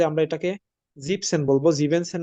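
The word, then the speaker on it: siebzehn: দিছি এখানে যেটা 17 17 কে আমরা বলব জিপসেন জিবেন হবে না এখানে জিপসেন হবে ই এন টা হবে না জিপ সেন বাংলাতে আমি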